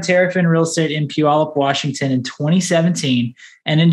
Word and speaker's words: Puyallup: to say the the town name can you pronounce that for me it's pure olive yeah don't worry about that at all yeah okay phenomenal so dennis started tariff in real estate in puyallup washington in 2017 and in just three years